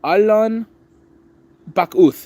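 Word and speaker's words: Allon Bachuth: Oh, Alan. Alan Bak. That's how you say it.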